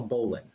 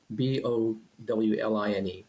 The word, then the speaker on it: bowline: It's called a bowline. Bowline. Some people pronounce it bow line. It has nothing to do with bows or ships or anything like that.